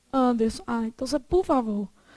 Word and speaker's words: Anderson: Ó, se a sílaba tônica fosse o der, teria acento, era igual ao próton. Anderson. Se a sílaba tônica fosse o som, você falaria Anderson. Você fala Anderson? Como é que você fala? Conta pra mim. Anderson.